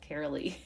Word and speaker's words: Karaleigh: know me I am carolly my name is totally hard to pronounce so it's carolly if you're not sure